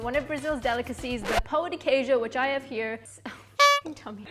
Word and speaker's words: Pão de Queijo: It's Pão de Queijo. Pão de Queijo.